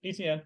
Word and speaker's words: Etienne: Is that how you pronounce it? Etienne.